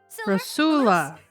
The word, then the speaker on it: Rosula: Rosula.